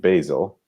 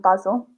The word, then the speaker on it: basil: two herbs themselves we in american english oregano and basil and in british english oregano and basil and basil okay those are those